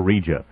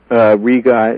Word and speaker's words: Riga: Is it pronounced Riga or Rija? Riga is the correct pronunciation.